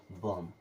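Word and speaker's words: bomb: बी आया मतलब बी खत्म क्या हो जाएगा बम क्या हो जाएगा बम इस प्रकार से अगर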